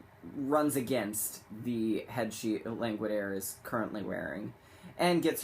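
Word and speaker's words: Langwidere: pronounced it looks like languid ear um and by modern pronunciation it probably is languid ear but it's actually languid a as in a languid air M loves his oral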